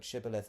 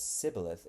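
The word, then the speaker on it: Shibboleth: They made them pronounce the word Shibilith. And when that word was pronounced as cibilith as you can see here by the Ephraimmites then they knew that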